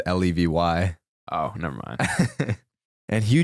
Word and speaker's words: Levy: It's Levy.